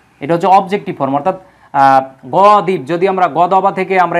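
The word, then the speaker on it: غَضَبَ: আরবিতে এই জায়গায় তিন বর্ণবিশিষ্ট মূল হরফ হবে গ দ বা গদবা মানে রাগ করা রাগ করা বা রাগান্বিত হওয়া বা গজব দেওয়া যেটা আমরা বলি গজব দেওয়া হ্যাঁ এই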